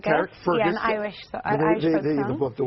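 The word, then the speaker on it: Carrickfergus: Karen Fergus, how do you say it? Carrick Fergus.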